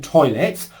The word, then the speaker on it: toilet: So for toy as in toilet, our lips are rounded. Oo, oi. I as in pilot.